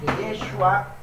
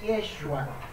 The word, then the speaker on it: Yeshua: adoptar la lengua aramea, y ahí vamos a ver una contracción y una reducción del nombre y queda la pronunciación Yeshua por el paso al arameo, ¿ok? Y vamos a buscar el fundamento para que usted vea que del texto hebreo al arameo, a Josué le llaman Yeshua, ¿ok?